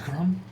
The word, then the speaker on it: Chrom: Elven child with the black green hair Victor crom you have crom is spelled CHR oom you have c h you're